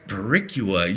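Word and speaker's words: Boricua: I couldn't even pronounce it when I was sober. All right. Baricua. Is that right? Baricua.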